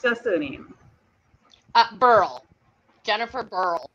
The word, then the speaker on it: Brhel: Jennifer, how do you pronounce your surname? Brhel.